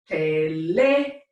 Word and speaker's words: teléfono: The natural stress would be teléfono, but those people who invented Spanish decided they wanted us to pronounce it in a different way, with stress in a different syllable. They decided they wanted us to spell it with an accent mark right here, and so the proper pronunciation with that accent mark overriding rule number 1 is teléfono.